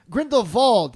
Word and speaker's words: Grindelwald: Grindelwald is actually how they pronounce it, so I will do it the right way.